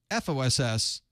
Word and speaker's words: FOSS: it pii AUP gdpr Foss or Phi fos says it's really false isn't it that's the way we usually pronounce that I was trying to